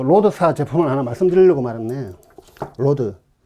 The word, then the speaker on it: Rode: 누구는 또 로데라고 하더라고. 로데. ROD. R 발음으로. 죄송해요. 제가 뭐 영어를 어정쩡하게 배워가지고. 근데 이게 뭐 다 로드라고 하는데 우리나라 사람은 로데 하니까 롯데도 아니고 제 롯데를 별로 안 좋아하긴 하는데, 예, 뭐 롯데 예, 그 발음 안 좋아요. 로드는 아니지만 로드면 죄송해요. 하여튼 로데라고는 뭐 좀 안 해주시면 좋을 것 같아요.